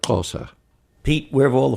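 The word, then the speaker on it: Xhosa: say the closer people their name is spell x h osa but the way it's pronounced is more like crosser pete where have all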